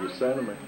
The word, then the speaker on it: Yosemite: Is that how you pronounce it? Yeah. Yosemite. Yosemite. Oh, yeah, Yosemite National.